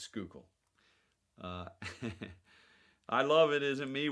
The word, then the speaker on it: Schuylkill: It's Schuylkill. It looks like Schuylkill River. It's Schuylkill.